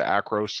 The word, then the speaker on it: Acros: the film simulation was across. So what was the film simulation? It's called Across, Acros. Acros, thank you for bailing me out. I had it written down, then wasn't pronouncing it right.